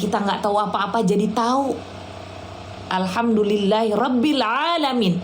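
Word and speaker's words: العالمين: Alhamdulillahi rabbil alamin. Ingat, ada huruf 'ain' di sana. Ain. Ain. Bukan "alamin". Tidak menggunakan alif. Jika Anda membacanya terlalu cepat, Anda mungkin menggunakan alif.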